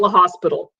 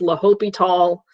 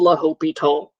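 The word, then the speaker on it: L'Hôpital: spell the bazillion different different ways it's not the hospital okay it's la hopi tall um it says down here that it's been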